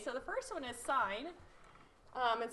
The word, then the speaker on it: sine: So in sine, it's just written, we write as S-I-N. So this is pronounced sine A, and it's the opposite leg of hypotenuse, where A is the angle here.